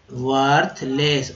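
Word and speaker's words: worthless: वाहियात, वर्थ, वर्थलेस, वर्थलेस, ओ का उच्चारण यहाँ पर अ के रूप में किया गया है, इसलिए वर्थलेस। विकट यानी कि मुश्किल, डिफिकल्ट,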